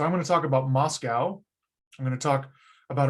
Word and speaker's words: MoSCoW: because it's the easiest moscow is a focronym a fake acronym mscw with two vowels thrown in just so we can pronounce it and the letters stand